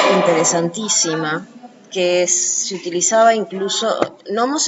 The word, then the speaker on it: nomos: Los gnomos es una cosa interesantísima, que se utilizaba incluso, nomos es ley. Y ¿Cómo se escribe? N-O-M-O-S. Nomos. No lleva G adelante.